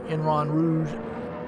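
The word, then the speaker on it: Eau Rouge: I mean, Enron Rouge is how you say it.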